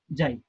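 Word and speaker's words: ξ: ये सिंबल आपको इसे प्रोनाउंस करना है जाई, ये है एक्स आई, इसे आप प्रोनाउंस करोगे जाई, ठीक है।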